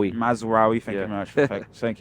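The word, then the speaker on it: Mazraoui: game u I say I always say his name wrong I know I know Aiden heaven no mazar mazawi mazawi thank you very much thank you but mazawi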